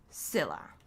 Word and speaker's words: Scylla: Daphne Scylla. I was educated. I'm an educated woman, and I was educated by the chat that the C is silent.